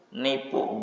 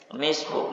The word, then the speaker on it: nisfu: Namanya nipu Sa'ban. Namanya nipu, bukan nisfu.